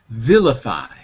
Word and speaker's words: vilify: Vilify. Vilify. Vilify. Yeah, it kind of sounds like the word villain. Vilify.